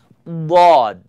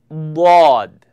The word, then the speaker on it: ض: It's called dad, dad.